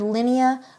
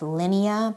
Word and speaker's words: Linnea: American will typically say Linnea I am going with Linea because I like how it feels similar to Lydia in this context okay Lydia which we've talked about Lydia to Linea it just softens it